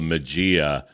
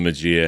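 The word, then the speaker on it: Maggia: failed now I think I'm pronouncing that right uh pretty sure it was McGee I've heard it I've heard people pronounce it different ways when I was a kid I pronounced it the magia because I didn't know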